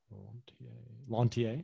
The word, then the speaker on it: Lanthier: Lanthier, is that how it's pronounced? Yeah. Very French.